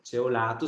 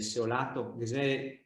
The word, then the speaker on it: Ceolato: Anche da me, sempre Ceolato, sarebbe Seolato, so, anche il nome Cingano, scritto Cingano, gli dice Cingano, ma se le saria Zingano, Singano, Fingano.